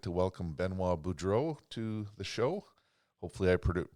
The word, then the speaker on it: Benoit Boudreau: Today, I'd like to welcome Benois Budro to the show. Hopefully, I pronounced your name correctly, Benois.